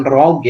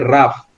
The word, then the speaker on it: rough: Bacanya bukan rogue ya, tapi rough.